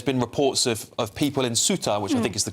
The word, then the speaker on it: Ceuta: I know that there's been reports of people in Ceuta, which I think is the correct pronunciation, as I've been told by James here